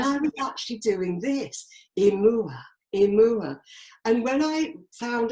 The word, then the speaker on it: Imua: And I was repeating a word that was imua. And I thought, that's very odd. So I looked at it phonetically and I did a search.